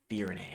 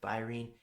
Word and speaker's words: Firene: Another note there is that it is in fact pronounced Firene. I've been calling it Firene.